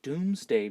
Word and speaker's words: Domesday: that it's called the Doomsday Book now it's spelled Domesday but remember that was in Old English it's pronounced doomsday book and it was kind